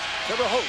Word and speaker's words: Terre Haute: Terre Haute, that's how you say it, Terre Haute.